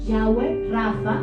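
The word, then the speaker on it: Yahweh Rapha: entonces el primero es rafa se pronunciaría como yagüe rafa 2 y en español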